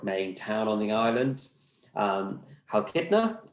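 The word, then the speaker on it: Chalkida: Halkidna, the sea is silent in Greek, I've learned.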